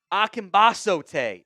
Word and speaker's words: Akingbesote: And then Tommy Akimbas is how you pronounce that one.